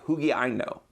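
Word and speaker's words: ὑγιαίνω: It's the word hugiaino in Greek. That's a funny way of saying it, but that's how they pronounce it in Greek, hugiaino.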